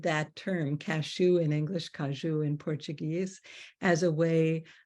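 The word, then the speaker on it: caju: trees do grow and where they are called kaju and that's spelled c-a-j-u in portug Portuguese kaju uh that cashews are not classified as a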